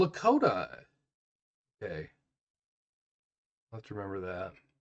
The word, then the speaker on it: Lakota: throat and cough] Lakota. Okay. Have to remember that. Lakota rhymes with South Dakota, which was part of the territory.